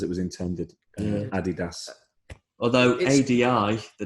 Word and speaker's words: Adi: Although ADI, the name is pronounced a D.